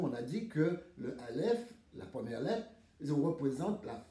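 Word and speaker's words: אלף: Alèf, c'est la prononciation alf, nous trouvons un un alèf, nous trouvons bien sûr à la mède et nous trouvons un feu.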